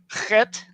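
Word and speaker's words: חית: Chet is like the CH in Bach.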